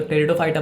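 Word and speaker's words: Pteridophyta: आपका डेवलप किया तो टेरिडोफाइटा बना प मतलब व साइलेंट था टेरिडोफाइटा डेवलप किया तो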